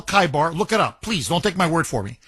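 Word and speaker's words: Khaybar: So, what this means is Kaibar, Kaibar, O Jews, the army of Muhammad will return.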